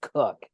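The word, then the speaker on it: Coke: with Edward cook at c-o-k-e but it's pronounced cook and Andrew cook was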